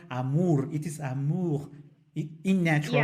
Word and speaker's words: amour: for example, l'amour, I know that amour is very nasal sound. It is not amour, it is amour in natural Yeah.